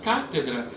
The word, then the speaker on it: cátedra: aqui no caso que a palavra cátedra não é a última sílaba católica não é a penúltima sílaba é a antepenúltima sílaba que é tônica cátedra e quase sólido